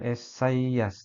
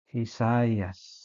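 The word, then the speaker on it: Ἠσαΐας: contohnya adalah esaias ya Jadi bukan esaias tapi esay yesayaas nah ini contoh penggunaan ee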